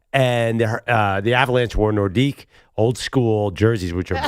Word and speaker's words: Nordique: And has anyone noticed that I happen to a little Nordics? I have a Nord Well, it's Nordique. Sorry. Pronounced in France.